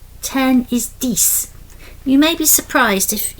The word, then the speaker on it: dix: Neuf you're pronouncing the F, and dix you're pronouncing the X.